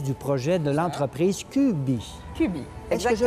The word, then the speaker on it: Kübbii: Cubi, Est-ce que je prononce bien?